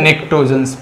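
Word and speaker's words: pnictogens: क्या कहा जाता है, निक्टोजन्स, पी इस पे साइलेंट होता है, निक्टोजन्स, ठीक है ना।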